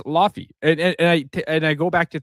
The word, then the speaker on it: Laufey: First off, they're pronouncing it wrong. Lao Fei sounds Chinese as hell. Like Lao, no, it's if we're sticking to Norse mythology, she's depicted as Laufey because she is an ice giant.